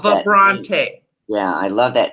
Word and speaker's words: Vibrante: idea and your company your company pronounced the brunt which I love that you said that's a combination of French and yeah it's vibrant and French vibrant and French yes yes Prante yeah I love that